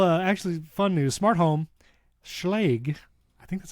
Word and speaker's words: Schlage: Well, Schlage Schlag is coming out with the Schlag. She's like, You're right, it rhymes with vague.